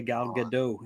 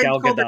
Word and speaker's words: Gal Gadot: I'm always correcting people when they say Gal Gadot. It's not how it's pronounced. As annoying as it is, it's actually pronounced Gal Gadot.